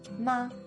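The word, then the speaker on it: 妈: sound usually means mother in chinese ma also means mother but only if you say it in the first tone ma if you say it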